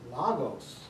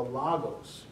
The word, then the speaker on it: logos: and the word is logos. Can you all say logos with me? Logos. Logos. And we, in English, it looks like L-O-G-O-S. Sometimes you hear it pronounced logos, but really the Omicron is logos.